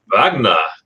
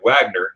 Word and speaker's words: Wagner: Wagner. Yeah, we're talking about the Americans. They would say Wagner. Of course, we know it's the V's.